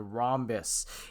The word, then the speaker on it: rhombus: ha ha or rhombus the h is silent in most cases most countries so it's a rhombus um and the reason